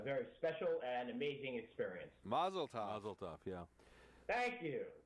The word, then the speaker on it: mazel tov: And I found out in Israel it's actually Mazel tov. Mazel tov. Okay. All of us here in the United States, whenever we use the Hebrew or the Yiddish, we're putting our emphasis on the wrong syllables, and it's it makes